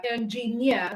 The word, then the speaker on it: engineer: examples we have engineer we have engineer that means it has three syllable words and the last syllable is near which means that near is the stressed syllable we are volunteer volunteer